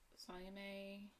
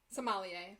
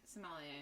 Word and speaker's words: sommelier: in Ann Arbor, and we just did the Salame. Oh, yeah. Like the wine expert. Yeah. It was, I'm probably not pronouncing that correctly, but I know what it is. Sommelier. Sommelier.